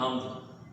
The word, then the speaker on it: حمد: واضح کریں۔ اعراب ہوگا حمد پہلا لفظ ہے، ہا پر زبر آئے گی، میم کی جزم، دال پر بھی جزم حمد، نظر نون پر زبر،